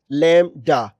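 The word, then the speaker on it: lambda: इसमें यह जो बी है यह साइलेंट है। ठीक है? यहां पर यह देखें द बी इज साइलेंट और इट इज प्रोनाउंस्ड लैम्डा।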